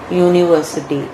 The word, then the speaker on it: university: Though there is A-E-I-O-U vowel, but it is pronounced as university, and so as consonant sound, and so we are using a there.